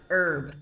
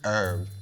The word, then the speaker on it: herb: - No, no, no, it's pronounced erb. - Erb. - Erb, yeah, pretend the h isn't even there.